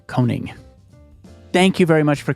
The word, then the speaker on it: Koning: through HR Tech Synergy and your last name is spelled k o n i n g coning thank you very much for coming on the